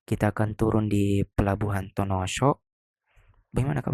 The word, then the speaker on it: Tonosho: Kita akan turun di pelabuhan Tonosho. Bagaimana kak bacanya? Tonoso.